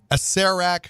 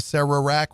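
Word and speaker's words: Acererak: dinosaurs there's Undead there's a CEREC who some people probably say Oh Sara Iraq which I would have said up until recently once I saw the pronunciation guide the arch Lich of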